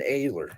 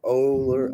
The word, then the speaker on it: Oehler: was flying taco and my name you know is Ayler my last name is spelled o-e-h-l-e-r everyone gets it wrong ohler you know so I